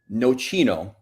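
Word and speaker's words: nocino: So, so let's let's start with Noino is the word we're looking for.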